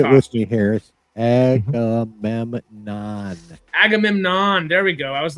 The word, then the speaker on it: Agamemnon: I forgot who it was till we saw him get but Agamemnon, as Benny Safdie as Agamemnon was the presence there. Right. I didn't love the Say it costume. with me, Harris. Agamemnon. Agamemnon.